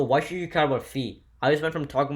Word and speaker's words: phi: is actually somewhat important that number is pronounced fee and when you write